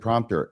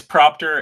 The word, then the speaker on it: propter: I always said prompter. Am I saying it wrong? It's propter and I was going to take great glee in correcting you once live on the air.